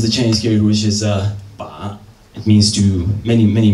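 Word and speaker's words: 把: This is the Chinese character, which is ba.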